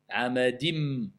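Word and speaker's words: عَمَدٍ: Ahsant. Amadim. Pourquoi? C'est la règle de l'assimilation. Idram.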